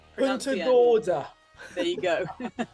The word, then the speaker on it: Punta Gorda: Yeah, make sure you pronounce the N. Punta Gorda.